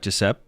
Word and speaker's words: Jepp: You pronounce it like Jepp. So, it's not Jeppi, it's Jepp.